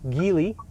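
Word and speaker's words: Geely: I'm pretty sure the right way to say it is Giley, but everybody at this Zeer event kept calling it Gil.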